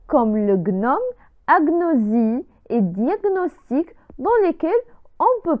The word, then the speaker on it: diagnostic: world tour michael ciani agnosie agnosie mitrale 16 diagnostic diagnostic ouais l'amener à point dieme diagnostic prenant